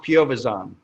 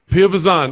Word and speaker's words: Piovesan: comes to my name it's pronounced piovazon pyovazon and so see that's i